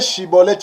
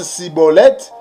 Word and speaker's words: Schibboleth: Donc si tu n'arrives pas à bien prononcer Shiboleth, tu prononces Siboleth, cela veut dire que tu es un étranger.